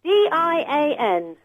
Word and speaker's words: Dian: is is Dian it is how do you spell that d i a n and it's pronounced Dian it is it is